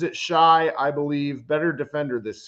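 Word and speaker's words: Shai: He pronounces it Shy, I believe, better defender this series.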